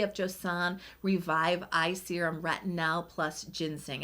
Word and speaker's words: retinal: And I am saying retinal, pronouncing it with an A instead of an O, because I'm actually referring to a different ingredient than retinol, and that is retinaldehyde, also shortened down to retinal, spelled with an A.